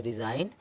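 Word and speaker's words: resign: इसी तरह इसको पढ़ेंगे रिज़ाइन और साइन। एच एच H silent कब होता है?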